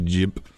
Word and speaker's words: GIMP: as this program it's it's spelled g i m p which spells the word but it's meant to be spelled with a yif sound so it's actually jimp but um call it